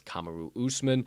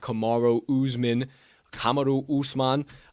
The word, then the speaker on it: Kamaru Usman: hell i'm talking about it's kamaru usman uh not kamaro uzman uh i like to